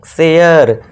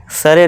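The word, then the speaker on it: share: ए के बाद आर ई आ गया तो इसे भी क्या करना है? ए का कर देना है। शेयर सर नहीं शेयर। केयर शेयर mayor.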